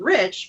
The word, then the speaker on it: Reich: And our last name was Reich. We pronounced it Rich, but they would say